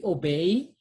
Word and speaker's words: obéis: S is silent. So we say tu obéis aux lois.